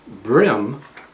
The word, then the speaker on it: bream: all panfish and brim spelled b-r-e-a-m but pronounced brim like in the brim of your cap or your hat is actually derived from